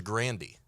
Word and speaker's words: Grande: and she said, I don't want to drop the Grandy. That's how she pronounced it herself.